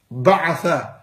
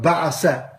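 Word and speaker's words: بعث: I'll say it properly for you. Ba'atha, not ba'asa.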